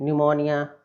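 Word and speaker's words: pneumonia: बोलेंगे और देख लेते हैं है नेक्स्ट को निमोनिया निमोनिया निमोनिया यह तो एक सफल हो गया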